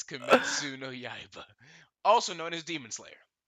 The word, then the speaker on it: Kimetsu no Yaiba: Because I feel like I might butcher the pronunciation. Oh shit. Hold on. It is Kimetsu. Kimitsuyo no Yaiba. It's Kimetsu no Yaiba, also known as Demon Slayer.